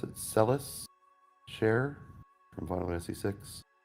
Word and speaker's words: Celes: Celis Share from Final Fantasy VI. Oh yeah. Celeste is how a lot of people say it. Probably Celis is probably more correct because it's one of those weird localizations where the